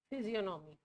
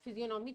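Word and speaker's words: physiognomy: The type of, ये सारी type theories है ना इसलिए मैं बार बार टाइप का वर्ड बोल, द टाइप ऑफ फिजियोनोमी। जी इसमें साइलेंट है।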